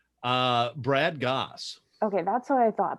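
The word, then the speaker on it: Brad Gosse: How do you pronounce the author's name? Brad Goss.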